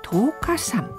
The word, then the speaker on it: 稲荷山: これで十日山と読むんですね。私は稲荷山かと思いました。